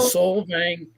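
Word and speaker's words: Solvang: We're from Soul Vang. Soul Vang, California.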